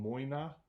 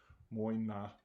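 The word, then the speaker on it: Mòine: peated line it's called Moyna um I'm not sure how you spell it but that's kind of how you pronounce it muy not and it means peated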